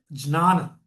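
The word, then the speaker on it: jnana: So see J N A NA it's just a Sanskrit tit nothing else the pronunciation is jana okay jantam it's not ghana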